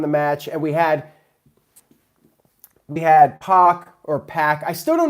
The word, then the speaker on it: Pac: Oofman Rule says it's Pac like Pac-Man, but I thought it was Pac like X-Pac.